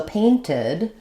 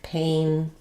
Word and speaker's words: painted: So when a word ends with a T or a D, like paint or need, then as we add the ED, we do say the D sound at the end, and we add a full syllable. So painted sounds like painted, and needed sounds like needed.